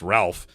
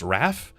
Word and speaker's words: Ralph: In, I guess, American English, it's pronounced Ralph, but I guess in British English, it's pronounced Raph. The L is silent.